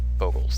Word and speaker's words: Bogles: If you don't know, you actually have to pronounce it Bogles. That's the correct pronunciations.